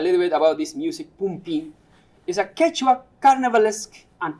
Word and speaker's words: pumpin: A particular indigenous music is called pumpin, pronounced pumpin, and I will perform.